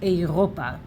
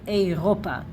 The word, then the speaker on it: אירופה: And actually, when you will see this word, when you know it, and even though there is no dagesh here, you will know that the right pronunciation is Europa, because this is the